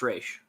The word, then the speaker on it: Ra's: It's spelled Ra's al Ghul, but it is pronounced Raish.